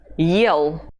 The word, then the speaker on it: съел: Whenever you see it, you will read the letter that follows as if it were at the beginning of the word. Let's see examples. This verb is pronounced yell. Yell. Well, this one is сел. Сел. Do you hear the difference between the 2 letters ye? Yell, сел. In the second word, it's not at the beginning, so we say сел.